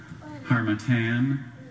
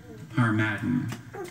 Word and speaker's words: Harmattan: Harmattan. Harmattan. Are there any alternate pronunciations?